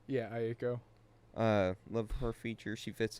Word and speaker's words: Aiko: Aiko? Yeah, Aiko.